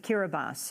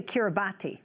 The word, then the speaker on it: Kiribati: the former president of kira bas and for those of you who are wondering Kira bosses actually will expelled one might say Kiribati but pronounced Kira bas a note they tongue